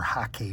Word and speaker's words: hake: However, I will say that the ways the way that we do it is um with the hake brush or hake brush as it's properly pronounced, you can get away